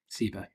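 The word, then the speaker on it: ceiba: that question laura um ceba i should say is spelt c e i b a uh yes c e i b a sibo yes and i'll cbu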